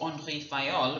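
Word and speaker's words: Henri Fayol: that they're managing now Henry file or Andre fiol which is his French pronunciation of his name he's a French professor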